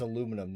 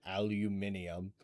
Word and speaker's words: aluminum: It's aluminum, not aluminum.